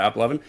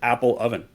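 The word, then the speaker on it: AppLovin: We had a podcast when we talked about App Lovin'. It comes out as Apple Oven, my favorite.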